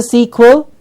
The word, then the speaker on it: sequel: sequel what is a sequel and remember we did the quu we said the quo is a W the W were quelle sequel sequel is what a sequel is